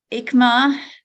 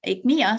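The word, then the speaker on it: Aechmea: pere david um magnolia fraserai john fraser and ikma akmiya sorry fosteriana named after mulford bateman foster so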